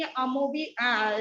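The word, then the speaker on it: amoeba: Pronunciation उसका अमीबा है, भले ही अमोबी लिखा हुआ है लेकिन प्रोनाउंसिएशन अमीबा है।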